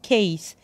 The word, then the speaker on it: case: انت حفظت pencil احفظ معايا case. السي استهبلت وعملت نفسها كي فقلت سي اي اس اي والاي اسمها ماجيك اي او سايلنت اي يعني مش بنطقها بقول كيس كيس بنسل كيس.